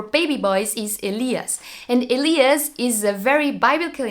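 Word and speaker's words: Elias: is good in German Aliyah sounds like this aleeah's and his name was just allowed for baby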